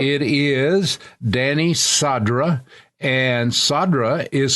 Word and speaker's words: Cadra: right it is danny sadra and sadra is spelled with uh a c but it's pronounced like s c a d r